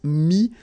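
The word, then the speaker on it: mis: Mi, same advice here, don't pronounce the final S like we had here.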